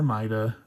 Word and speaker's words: Maida: So, Ma H6. And again, you can pronounce it ma or maida. Um, I just prefer to go the the route of pronouncing it uh like the Italians would um instead of the the British way.